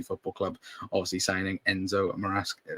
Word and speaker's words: Maresca: Club, obviously signing Enzo Maresca. Is it Marescas? If I pronounce the last name right? Maresca, yeah. But again, let us know all of you are in the comments down below as well.